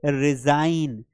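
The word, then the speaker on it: resign: फॉरेन, अब इसकी spelling बड़ी कितनी कठिन है, फॉरेन, क्योंकि जी साइलेंट आ रहा है एन के पहले। जैसे रिजाइन, डिजाइन, तो यहां पर सभी के लास्ट में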